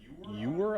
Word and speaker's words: ewer: It's like stoneware painted with garden imagery, and it's, you've put the word ewer on here. I don't even know how to pronounce that. E-W-E-R? Ewer? Yeah, you were.